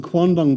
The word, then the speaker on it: quandong: In my father's garden were some quandong bushes.